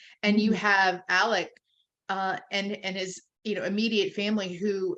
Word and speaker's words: Alec: His name is like totally not how it's spelled. And is it Alex? Is it Alec? Ellick? I keep seeing that. I'm like, yeah, it's Alec Murdoch.